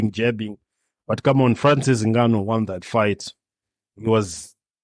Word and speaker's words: Ngannou: How do you pronounce that? Ngannou. Is that correct? Yeah. Ngannou.